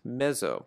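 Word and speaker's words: mezzo: and piano the word means medium and is pronounced meso when we use this in music we always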